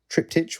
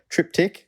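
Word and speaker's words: triptych: the trip TI Club trip tich we say I think technically it's meant to be trip tick in an early episode maybe the first episode Dave said it wrong and we have said it wrong ever since uh could not give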